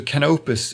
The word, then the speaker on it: Canopus: look it up so canopus is the way uh to pronounce it.